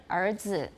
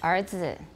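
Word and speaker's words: 儿子: Er qie, er zi. Now that's a more Beijing pronunciation. Sometimes you have no R at all in Taiwan.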